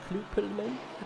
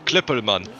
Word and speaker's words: Klippelman: Kloppelman? Klippelman. Hey! There you go. You don't pronounce the O, as I did.